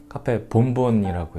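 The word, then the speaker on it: café bombón: 이제 모히또가 시그니처 면이에요 스페인 커피인 카페봉봉이라고 있는데 원래 발음은 카페 본분이라고 해요 얘는 이제 뭐 에스프레소와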